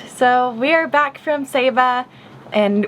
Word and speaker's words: Saba: All right, so we are back from Saba, and we pronounced it wrong the whole time, by the way. It's Saba, not Saba.